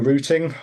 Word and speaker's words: routing: metric support for for routting or routing if you feel like saying it wrong.